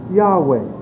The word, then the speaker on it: Yahweh: And also, if you look in the Encyclopedia Judea, volume number 7, page 679, the pronunciation of Yahweh, Y-H-V-A, is pronounced Yahweh.